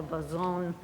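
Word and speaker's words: Basson: The 16-foot bason on the swell looks like it's spelled bassoon, but it's really called a bason after the French spelling, I guess.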